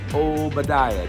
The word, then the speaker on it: Obediah: First of all, how to pronounce my name. It's Obediah.